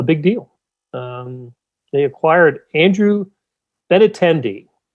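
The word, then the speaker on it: Benintendi: deal um they acquired andrew benatendi sometimes i have to say it in my mind first before i can you know pronounce it ben intendee uh from the boston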